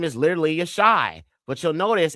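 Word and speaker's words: ישי: But that doesn't make any sense because Jesse, who is the father of Daoud, his name was Yashai. So the name Jesse in Hebrew or Abari is pronounced Yashai.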